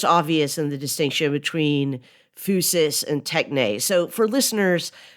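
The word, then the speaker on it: physis: in the distinction between fusus and Tech so for listeners when we're using the Greek word fusus that's spelled p h Ys i s it's where we get the word physics fusus is nature Tech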